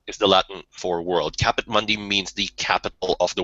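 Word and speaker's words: Caput Mundi: its own definition Mundy yeah well I mean it's Latin so it's pronounced capit Mundi we can't use th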